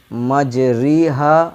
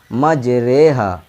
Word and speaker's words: مجریہا: سے پڑھا جاتا ہے۔ اس کا تلفظ یعنی مجریہا نہیں ہوگا، بلکہ اس کو مجہول آواز سے پڑھیں گے، یعنی مجریہا۔ میم جیم جبر مج،